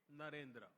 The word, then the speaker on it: Narendra: I said that their name, Devendra, rhymes with my own name, Narendra.